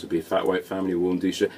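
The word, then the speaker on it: Warmduscher: She kind of goes Warm Dusha, but it's a V rather than a W. Warm Dusha. Warm Dusha. Warm Dusha with the accent.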